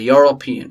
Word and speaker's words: European: European. We don't say European. Alright, European. Again, consonant at the first.